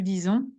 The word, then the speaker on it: disons: Nous disons. Attention, it's not a R, but a S.